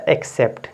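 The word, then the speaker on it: accept: इसी तरह से देखिए दो सी हैं तो यहां पे एक सी को आधा का पढ़ेंगे दूसरे सी यहां पर पहले क पढ़ेंगे और सीई को स पढ़ेंगे तो एक्सेप्ट क्या हो जाएगा एक्सेप्ट अडॉप्ट क्या हो जाएगा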